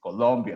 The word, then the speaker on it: Colombia: just be careful because it's Colombia, the proper pronunciation, the proper name.